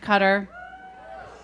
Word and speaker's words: Qatar: Have you guys heard of Qatar? Awesome. I used to have to pronounce it for everybody. I mean, the first time I heard Qatar, I was like, what? Are you talking about bug spray?